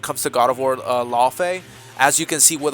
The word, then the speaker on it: Laufey: the God of War series, God of War Law Fay. And yes, that's how it's meant to be pronounced, at least in this case.